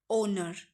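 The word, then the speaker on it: honour: 10th क्या है, ओनर, ओनर, होनर नहीं होगा, ओनर, ठीक है।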